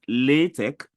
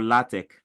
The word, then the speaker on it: LaTeX: Like LaTeX is either pronounced LaTeX or LaTeX.